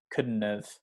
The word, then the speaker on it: couldn't: okay same with could couldn't have you don't really need to pronounce the d the d sound and